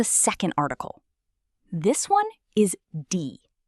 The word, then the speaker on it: die: This one is D. Say it. D. It sounds exactly like the English word D.